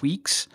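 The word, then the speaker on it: Weex: And that project's called Weeks. That's spelled W-E-E-X.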